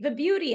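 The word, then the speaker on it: Vibhuti: I think it's so, when she was telling me how to pronounce it, she was like, Vibuhti, as in beauty.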